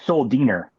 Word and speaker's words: Schuldiner: He told me it's Chuck Schuldiner. That's apparently the real way to pronounce it.